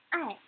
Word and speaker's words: 爱: Next, 爱, 爱, which means love. I doesn't have initial. It only has final. I, and the tone is the fourth tone.